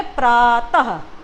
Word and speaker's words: प्रातः: जैसे हम बोलते हैं कि इसका उच्चारण बच्चों ह के जैसे होता है। जैसे हम बोले प्रातः, तो प्रातः में हमको क्या सुनाई दे रहा है?